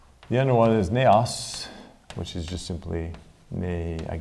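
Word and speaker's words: ναός: All right, the first one is, it's actually Hieron, which is English, is pronounced like that, Hieron. The other one is Naos, which is just simply, I guess like that, Naos.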